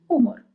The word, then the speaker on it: humor: Humor, for example, we write it in the very same way, but we pronounce it as humor.